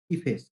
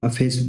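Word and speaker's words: efface: कहीं इसको इफेस बोला जाता है, कभी इसे आप जब गूगल करोगे तो अफेस बोला जाता है, ठीक है। अपने अकॉर्डिंग प्रोनाउंसिएशन को देखिए। तो फिलहाल मैं इसे पढ़ूंगा अफेस।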